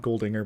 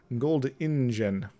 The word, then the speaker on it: Goldingen: Well, I know it's not Goldinger, but it's Goldingen. Goldingen.